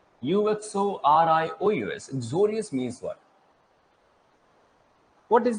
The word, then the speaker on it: uxorious: एक्सोरो wife होती है एंड एक्सोरे, एक्सोरो भी कहते हैं, डिफरेंट प्रोनाउंसिएशन इसके हैं। एक्सोरियस, UXORIOUS, एक्सोरियस मीन्स व्हाट?